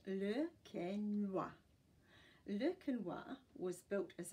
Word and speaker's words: Le Quesnoy: Its name is pronounced Le Quesnoy.